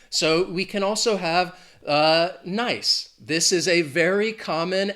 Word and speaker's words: Nice: You could say something or someone is nice. If we capitalize that N, then suddenly it becomes the name of a city in France. And the pronunciation changes from nice to Nice.